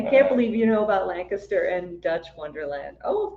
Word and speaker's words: Lancaster: Oh, Lancaster. I was like, how do you say it again? Lancaster, not Lancaster like I said it.